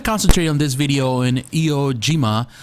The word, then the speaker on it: Iwo Jima: on this video in Iwo Jima, or Iwo Jima as we pronounce it in English, which is the Battle of Iwo Jima.